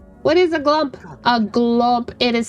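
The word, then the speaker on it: glomp: just like Jack is going to glump.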